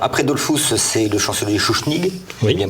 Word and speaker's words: Schuschnigg: Alors après Dollfuss, c'est le chancelier Schuschnigg, oui, bien prononcé, tout à fait.